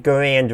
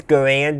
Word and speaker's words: Garand: And he says Garand, not Garand. No, he says Garand, not Garand. One is how most people pronounced it, and one is how the developer of the rifle pronounced his own last name, which is where the name comes from.